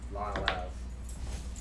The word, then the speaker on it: Lyell: Lyell Ave. Lyell Ave. If you don't say it right, they're gonna get lost out there.